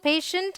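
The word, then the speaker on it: patient: All right, ये park, purple, पेशेंट and public. देखिए यहाँ TIE है, इसे हम श प्रोनाउंस कर रहे हैं।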